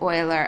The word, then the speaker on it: Euler: Leonardo I learn and make sure that you pronounce it oiler otherwise mathematicians will just